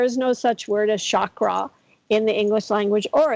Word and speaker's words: chakra: helps you to maintain the health of your chakras which by the way that the word is pronounced chakra. Chakra is actually how it's pronounced.